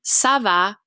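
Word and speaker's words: ça va: nice s sound and in the word sava sava we get of it a nice s sound because typically when a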